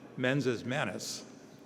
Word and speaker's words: mens et manus: We pronounce it mensis manus.